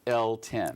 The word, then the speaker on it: L10: you elton that's all right as in elton john the only one lady lady john those are some big shoes to fill but i i don't mind being attached to them but yours are pronounced l10 l10 so tell me where